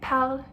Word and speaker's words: parles: Tu parles, even though it's es, it's still pronounced the same as the first person. Je parle, tu parles. You don't pronounce the S at the end.